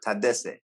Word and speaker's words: Tadesse: Yeah, Tedesse. Tedesse. Yeah. Tedesse. Okay. is good. is pretty is good. Yeah, but the quick way. I like to Tedesse.